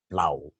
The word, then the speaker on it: plough: THOUGH is pronounced as though, THROUGH is pronounced as through, COUGH is pronounced as cough, ROUGH is pronounced as rough, PLOUGH is pronounced as plow.